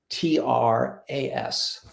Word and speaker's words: Scontras: Yeah, that's a great question, because it's spelt many different ways depending on where you are in the country. But it's Scontras.